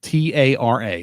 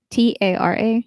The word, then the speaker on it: Tara: It's spelled T-A-R-A. How's it pronounced? T-A-R-A? Yep. Tara? Nope. What? Do not pronounce it like that. It's Tara.